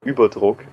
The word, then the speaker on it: Überdruck: It's actually pronounced Überdruck, and it's right. It's like, it means overpressure. Oh, right. In German.